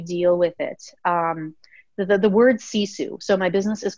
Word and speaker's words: Sisu: The word sisu.